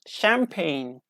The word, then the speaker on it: champagne: quantities of expensive bubbly white wine known as champagne. Cheers, like this. So we don't pronounce G.